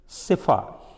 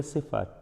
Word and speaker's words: tsepha: the word सिफा, Hebrew word है सिफा, TSEPHA, सिफा, T silent है, H6848 and has been